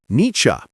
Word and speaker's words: Nietzsche: The first part sounds like ni and the second part sounds like cha. So together, niche.